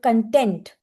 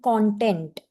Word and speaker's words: content: Somebody used the word content. Content means happy. It should have been content. Content of the speech.